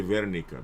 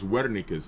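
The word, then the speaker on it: Wernicke: Now right here posterior speech area is called Wikis area right uh some people say Verika because they pronounce W as a V but it's Wika's area right uh Wika's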